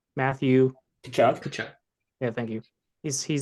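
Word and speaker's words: Tkachuk: Chakok, say his name. Matthew. Kachuk.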